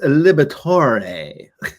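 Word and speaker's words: Liberatore: Uh, according to the pronunciation guide, it's Liberator.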